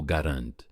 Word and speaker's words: Garand: O próprio criador do rifle o pronunciava como Garand.